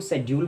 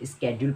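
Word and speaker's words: schedule: Breakfast में कोई इसको शेड्यूल पढ़ता है, कोई इसको स्केड्यूल पढ़ता है। तो आपको मैं बता दूं, दोनों ही प्रोनाउंसिएशन ठीक है। अमेरिकन इंग्लिश में इसे स्केड्यूल पढ़ा जाता है और ब्रिटिश इंग्लिश में इसको शेड्यूल पढ़ा जाता है।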